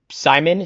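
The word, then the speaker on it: Psimon: Villains, we have Simon, spelled with a P, like Psy, who is telepathic and evil.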